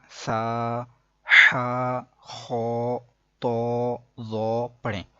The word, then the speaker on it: ث: تو قرآن پاک پڑھا جاتا ہے عربی لہجے کے اندر. عربی لہجے کے مطابق قرآن پاک کو اگر پڑھیں گے تو وہ بے، تے نہیں بلکہ با، تا، سا ایسے ہوگا.